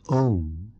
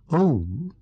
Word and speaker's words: Om: The first letter, A, is the root sound, the key, pronounced without touching any part of the tongue or palate. M represents the last sound in the series being produced by the closed lips. And the U rolls from the very root to the